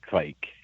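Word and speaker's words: kveik: yeah I I think it's like a a soft v so if you kind of combine a w and a v I think that's the and then otherwise rhyme with bike so like Quake oh Quake okay I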